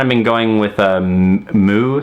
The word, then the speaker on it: MØ: in the like even in the press refer to as mo but if I found it's a little kind of disingenuous or kind of like not considerate to pronounce her name like that far off as I know even she will try and say mu or mu when given the shot